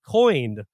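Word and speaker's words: Coign: Syrup products and pay for it all with coined that's spelled c-o-i-g-n America's First Credit Card for conservatives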